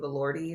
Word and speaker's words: Elordi: I love Jacob Elordi.